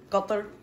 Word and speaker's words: Qatar: This is the Dutch flag, Croatia, UK, China, Niger, Qatar, sometimes pronounced Qatar most of the time.